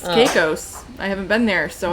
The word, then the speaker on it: Caicos: oh you have it is this is that how you say it cows i thought it was caicos there you go yeah apparently it's caicos i haven't been there